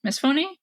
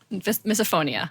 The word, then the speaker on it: misophonia: a word for if you don't like the misphony. Is that? Yeah. Yeah, misophony. I'm not sure how you pronounce that word, actually. Yeah. Let's look it up. Yeah. Misophonia. Misophonia. Okay. Yeah. Misophonia.